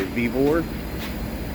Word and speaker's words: Vevor: over this Topside Creeper uh this one's by vivor that's how you pronounce it there's all the specs right there